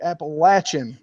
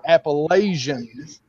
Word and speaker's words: Appalachian: live here it's the Appalachian Mountain come on appan or everybody everybody that's not from around here calls it the Appalachians come on really if you look at it it is spelled Apple ATA so say it one